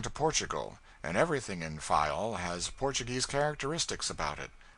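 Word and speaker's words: Faial: of the group fayao the people there pronounce it file and put the accent on the first syllable we anchored in the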